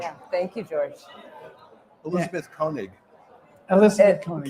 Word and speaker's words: Koenig: Elizabeth Koenig. Elizabeth Koenig. Koenig is an alternative pronunciation.